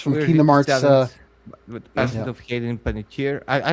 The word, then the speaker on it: Panettiere: Uh, it's from King's of Hayden Penitier. I I don't even know how to pronounce her. Uh, no, no, you you said it right. Penetier.